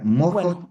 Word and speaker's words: MOHO: Es m O ho. Mo, su pronuncia se pronuncia mojo.